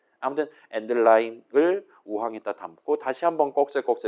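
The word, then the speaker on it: endl: 그다음에 그 꺾세의 결과값을 좌항에 두고 우항에다가 STD 콜론콜론 and드 L 얘를 보통 이제 저 L을 라인에 줄인 말이라고 쳐서 엔드라인이라고 저는 일단 보통 발음을 합니다. 아무튼 엔드라인을 우항했다 담고 다시 한번 꺾세거 돌리는 거예요.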